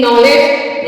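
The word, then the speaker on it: knowledge: का rule number two अगर के के बाद ए आए तो के साइलेंट होता है जैसे आपने देखा होगा नॉट या फिर के एन आई नाइस शुरू में ही के दिया है और वो साइलेंट है क्योंकि के के बाद एन आया हुआ है ऐसे ही के एन ओ डब् एल ई डी जी ई नॉलेज नॉलेज में भी के उसका कोई मतलब नहीं है इसी तरह और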